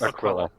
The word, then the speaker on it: Aquila: It's Aquila.